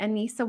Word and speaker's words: Anisa: I have a wonderful guest today, Anisa. Did I pronounce it right? It's Anisa?